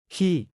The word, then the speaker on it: ขี้: ขี้ 키처럼 발음.